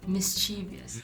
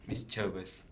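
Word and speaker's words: mischievous: I've always thought that there was an 'I' between 'V' and 'O'.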